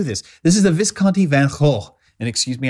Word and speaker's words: Van Gogh: And excuse me, I think that's the correct pronunciation. Someone corrected me on the earlier video. I will call it Van Gogh since that's how we pronounce it here in the United States, even though it's wrong.